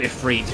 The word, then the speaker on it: Ifrit: Like, Ifrit's the iconic one, because he's actually called Ifrit, but literally everyone calls him Ifrit.